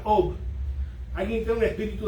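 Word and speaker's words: אוב: Específicamente él dice que busque a alguien que tenga espíritu de adivinación, lo cual se pronuncia Ob.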